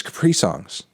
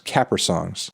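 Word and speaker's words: Caprisongs: FKA Twigs, Capri Songs. Capri Songs, Capra Songs. I keep saying it wrong.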